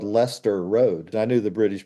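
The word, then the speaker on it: Leicester: this band I may need help with their pronunciation. The Earls of Lester. Oh, that's easy. That wouldn't get everybody. I'm trying to make it complicated. Everyone does. They want to say Lancaster.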